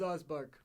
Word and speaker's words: Ozbark: that presumably right no they just have my name wrong oh my name is osbar I am a wizard puny human yes I